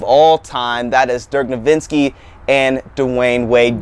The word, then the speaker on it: Nowitzki: Dirk I can never say his name I judge divinsky I'm like Dirk Nowitzki well his his his last name has a W in it and it acts as a V so it looks like